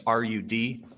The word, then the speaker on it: Rudofski: Special Agent Peter Rudofski, that's Rudofski, and it's pronounced Rudolph and then ski.